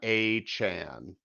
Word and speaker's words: Achane: I He know it's corrected the pronunciation. Davon A-Chan, I It's think is what.